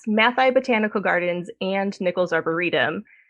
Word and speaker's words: Matthaei: Uh tell us a little bit about the the Matai collection. Am I saying that right? It's pronounced Mati.